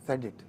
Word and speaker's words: SDHT: time to say SDHT, you call it as SEDIT. This is pronounced as, that is pronounced as okay, SDHT pronounced as said it.